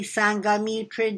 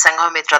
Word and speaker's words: Sanghamitra: fill her name in Sanghamitra am i pronouncing your name correctly Sanghamitra yes yes you are pronouncing it correct that is Sanghamitra thank you